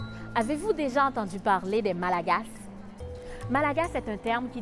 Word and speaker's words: Malagasy: En fait, on dit Malagasy. Ça s'écrit Malagasy, mais on ne prononce pas la lettre Y dans la dernière syllabe. On prononce par contre la lettre S, Malagasy.